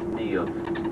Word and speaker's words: Niamh: and she told them that her name was Niamh. Now, Niamh is a lovely Irish girl's name. You spell it N-I-A-M-H, Niamh.